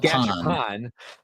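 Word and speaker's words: Gashapon: Jazzy Viking Brick says, Gash upon. Gash upon is what I've been told. Gash upon. Okay. Sure. Gash upon. I had to put, there's two syllables.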